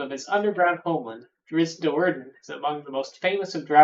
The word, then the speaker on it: Do'Urden: Do'Urden? I guess is supposed to be has the accents on the Do'Urden.